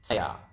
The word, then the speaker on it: saya: I is saya. Okay? I is saya. So, it's not very complicated. So, saya, sa ya. I.